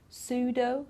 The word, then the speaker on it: pseudo: We don't pronounce the P in psychology, psychiatrist, pseudo, okay, so we don't pronounce the P at all.